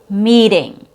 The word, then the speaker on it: meeting: Next example is meeting.